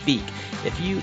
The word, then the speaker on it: Vike: You see the way something's spelled, Vike, Vike is how his last name is spelled. I just can't keep from calling him Vike. I'm sure I've said it a few times in this episode, but it's Vike.